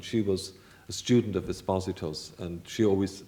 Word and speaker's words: Esposito: was a student of Esposito's, and Mrs. Marshall always said Esposito. So I think it must have been pronounced that way in Dublin.